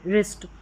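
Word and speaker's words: wrist: लेकिन डब्ल्यू जो साइलेंट रहता है। डब्ल्यू के बाद में आर रहता है। तो राइट रॉन्ग और रिस्ट यहां पर डब्ल्यू साइलेंट है।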